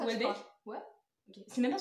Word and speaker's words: Houellebecq: Houellebecq? Ouais. C'était ça? Oui. Est-ce que ça se prononce comme ça? Personne ne sait. Si, ça se prononce comme ça. Houellebecq?